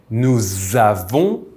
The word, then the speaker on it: nous avons: a liaison, which is linking the two words by pronouncing this s with the z sound, like zebra. This is why we say nous avons, vous avez, ils ont.